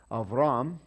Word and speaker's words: Abram: Okay, so Abram, we're going to pause there because he's the important guy. And again, there's no dot in there, so you might pronounce it Avram.